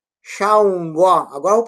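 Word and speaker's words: Ṣàngó: Eles estão dizendo San. Sangó não é Xangó.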